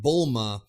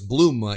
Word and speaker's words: Bulma: that in Z when bull ma or as Lance refers to us Bluma either way you could pronounce it either way it's it's all translation there's different translation for her name but Bulma Bluma bloomers